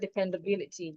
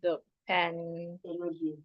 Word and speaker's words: dependability: So according to the rule again, the word is a polysyllabic word. So you're stressing the third syllable from the end. So it means that I'm stressing the BI. I'm stressing the BI in that word.